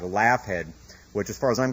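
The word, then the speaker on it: Laugead: that it is today it's spelled La u g e a d like laugh head which as far as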